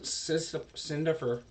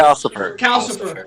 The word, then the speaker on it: Calcifer: And so after Cinderfer, oh my god, I'm never gonna pronounce it correctly. Calcifer. I don't know why I want to go Sin, but Calcifer.